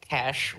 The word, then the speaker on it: cache: It's the cash.